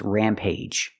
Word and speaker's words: rampage: Two syllable words and they're pronounced age. There are only three of them. There only three that I know. And the first one is rampage. Use the long a sound plus j. The hard j sound like juice and jump.